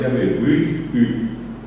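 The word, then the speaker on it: Yabebyry: Y bien pronunciada la palabra es Yabehuirí.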